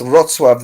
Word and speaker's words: Wrocław: It's spelled W-R-O-C. Is that a T-A-W? So for Wrocław, me, yeah, it's Wrocław.